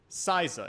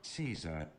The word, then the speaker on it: Caesar: Siza is how I want to say it. Am I saying, is Siza correct? We'll have to watch a YouTube video. Caesar. Fuck! Caesar. Caesar. Caesar.